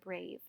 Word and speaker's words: brave: Notice how that E is smaller because it doesn't actually make a sound, and how it's connected to that A because that silent E is making the A say the long vowel sound.